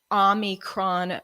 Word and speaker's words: Omicron: Omicron, he threw an N in there, but it's actually, I guess it's pronounced the Omicron variant, which is the 15th letter of the Greek alphabet.